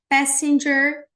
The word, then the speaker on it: passenger: Passenger cabin, passenger cabin. Aqui a pronúncia fica passenger. Eu vou colocar aqui do ladinho a pronúncia, tá? Pé, sem, pé, sem, passenger, passenger cabin.